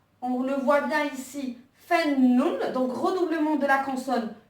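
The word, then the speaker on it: فنّ: Fa, donc avec le son A, donc on voit la fatha. Nun, et donc là on voit bien qu'on appuie sur la lettre Nun, Fannun, et donc il y a Ashadda qui est là.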